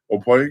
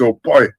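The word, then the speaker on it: Ọpẹ: Opwe, greet. And Opwe is one of the sounds unique to Yoruba language. People pronounce it OP. That's not right. It's Opwe, and you pop the PE a little bit.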